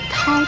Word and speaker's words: 叨: 介绍一个叨字，叨扰的叨。叨这个字的国语注音是叨，一声叨，喝凹叨，一声叨。